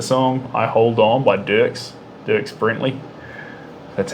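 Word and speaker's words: Brantley: But then, there's that song, I Hold On by Dirks Brentley. That's how you pronounce his name.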